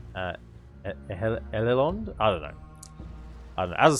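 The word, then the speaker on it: Edhellond: It's Ehelond. I don't know. It's not like Ed Helond. It's not the D sound. I know that. Like Ehelond?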